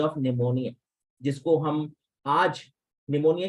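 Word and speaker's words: pneumonia: निमोनिया जिसको हम आज निमोनिया की स्पेलिंग जैसे पी से शुरू होती है सो जो है वो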